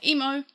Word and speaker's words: EMO: work on different pronunciations, I have to say it like mo, as in the Japanese character mo is the only way I can explain it.